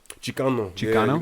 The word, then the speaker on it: Chicano: Explain what I believe it's pronounced Chicano. Chicano.